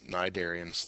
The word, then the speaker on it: cnidarians: Next is cnidarians. That's how you pronounce it, cnidarians. The C is silent.